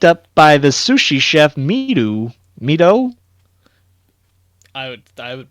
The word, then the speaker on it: Mido: He starts tracking down the clues as best he can until he's picked up by the sushi chef Mido. I would pronounce Go it with Mido Mido.